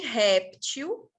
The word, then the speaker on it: réptil: só a palavra réptil tanto pode ser pronunciada como oxítona ou como paroxítona o plural de réptil quando eu falo ela